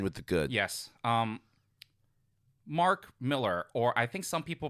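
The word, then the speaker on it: Mark Millar: the bad end with the good yes um Mark Miller or I think some people pronounce it Mark malar but I double checked some BBC interview in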